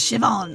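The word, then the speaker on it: Siobhan: have robbed it myself tio ban shiban is pronounced shivan oh thank you come on what a menacing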